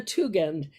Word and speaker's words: Tugend: me again too again it's a hard g right tougand and is an